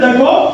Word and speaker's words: the: হইছে কি তা তা আবার এইখানে দেখো ভাওয়েল ভাওয়েল থাকলে শুরুতে হবে কি কি